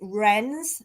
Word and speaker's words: Roenz: that Tyler um now I think they pronounce it renz but it's spelled for anybody who wants to look r-o-e-n-z so Tyler Tyler renz 17 is also charged